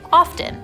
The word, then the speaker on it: often: Technically, the T is silent, as in soften and listen and fasten, but in the last couple decades, people have started pronouncing it often, which is incidentally closer to how it was pronounced before the advent of modern English 400 years ago.